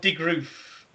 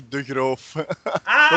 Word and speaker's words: de Groof: But I think, well, I know the first bit's, but I think it's de Groof, de Groof. That's how English people pronounce it, but it's actually de Groof.